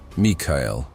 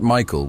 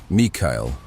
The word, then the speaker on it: Mikail: Mikail, not Michael with the English pronunciation, Mikail.